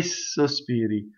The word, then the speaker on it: sospiri: How do I make a double S? Well, I just hiss the S a little bit, right? Che sospiri, che sospiri, che sospiri, che sospiri.